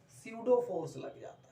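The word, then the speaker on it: pseudo: स्यूडो force क्या होता है, स्यूडो फोर्स, यहाँ पी साइलेंट है।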